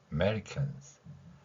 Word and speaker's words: Americans: 그 다음에 여기 어는 좀 약하게 소리를 내면 됩니다. 실제로 어 소리가 안 들리는 경우도 많이 있어요. American, Americans. 자, 마지막 con, 그리고 받침 두 개 있죠. 그러면 con까지는 강하게 발음을 냅니다. 그리고 시옷 소리는 흘려주세요. cons. 이런 식으로요.